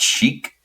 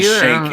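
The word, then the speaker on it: sheikh: side note it's I I always thought it was pronounced Chic but now pronouncing it shake it's just like they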